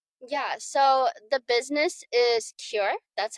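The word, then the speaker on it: KIR: Yeah, so the business is cure. That's how you pronounce it.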